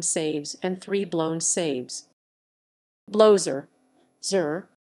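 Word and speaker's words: blowser: and three blown saves blowzer zur rhymes with closer a closer who seems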